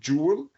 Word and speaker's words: joule: même qui le sont, jou en anglais c'est ça se prononce jeel et c'est la même prononciation que le mot bijouel prononcé à la française.